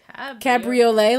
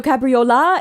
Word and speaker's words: Cabriola: Cabriolet, like the car. No, Cabriola. It ends with an LA.